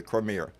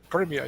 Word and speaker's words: Crimea: was talking about uh the Crimeira uh and I always know I pronounced that wrong. Uh Crimea. Yeah, Crimea. You're right.